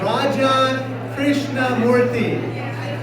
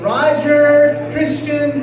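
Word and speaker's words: Raja Krishnamoorthi: in Illinois, I said, "Hi, my name is Raja Krishnamoothi." And the person looking back at me in Chicago said, "Roger Christian Murphy."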